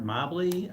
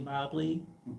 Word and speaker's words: Mobly: Uh my name is Mobly. I say probably Mobly because Mobly rhymes with probably.